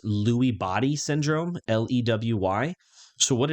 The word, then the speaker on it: Lewy: had I believe it was called uh or pronounced Lewy Body syndrome l-e-w-y so what it is it's